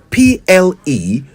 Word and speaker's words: pleonasm: Pleonasm.